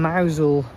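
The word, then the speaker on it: Mousehole: But then from Mousel all the way around to Morazzian flat and tarmac I think this is said under and over.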